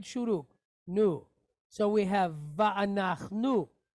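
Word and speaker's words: וַאֲנַחְנוּ: So we have va'anach nu. Right? Va'anach nu.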